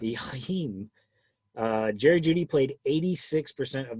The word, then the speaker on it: Jakeem Grant: It's pronounced Jakeem Grant. Jakeem.